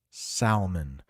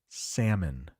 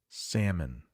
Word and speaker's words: salmon: think in English because that l in the middle is silent at least where I live the L is silent